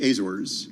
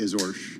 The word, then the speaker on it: Azores: Well, in the United States we say Azores. Okay. But in Portugal they would say Azores.